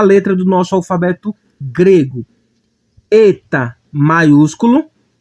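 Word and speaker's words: ἦτα: Eta maiúsculo e eta minúsculo.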